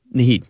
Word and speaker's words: Naheed: Now, is that how you pronounce his first name? Naheed, yeah.